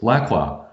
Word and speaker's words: Lacroix: It was Lacroix. So kind of tripping over the R and going straight for that last syllable.